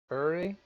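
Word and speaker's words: Åre: To get some winters, there's a town called Ure, which is spelled like R, A-R-E, but it has an accent over the A.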